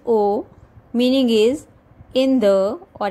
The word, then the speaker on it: au: A-U. Pronunciation is O.